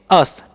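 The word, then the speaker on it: us: यू एस है तो इसे उस नहीं हम पढ़ेंगे अस ठीक है तो अस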